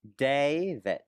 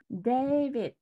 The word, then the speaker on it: David: Trọng âm rơi vào âm day cho mình đọc. David. David.